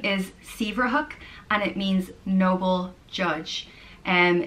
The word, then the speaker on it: Saebhreathach: The next name is Saebhreathach, and it means noble judge. Saer means noble, and Breathach means judge, so noble judge, Saebhreathach. And is pronounced Saebhreathach.